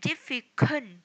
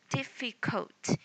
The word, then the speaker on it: difficult: We don't say difficult. It is not kun, but difficult. Difficult. There will be no n sound in the word.